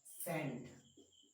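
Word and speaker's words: scent: एस के बाद जब जब सी का यूज किया जाता है तब वहां पर जो सी होता है वो क्या होता है, साइलेंट होता है। एग्जाम्पल के रूप में जैसे आप साइंस, साइंस, सेंट, इन सारे में जो सी है वो क्या है बेटा, साइलेंट।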